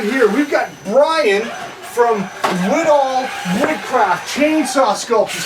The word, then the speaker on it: Widahl: Widahl? Widahl Woodcraft.